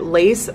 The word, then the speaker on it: LES: I read online that it's, you can pronounce it lace or L-E-S, but I'm gonna say L-E-S because that's where I live in New York and I thought it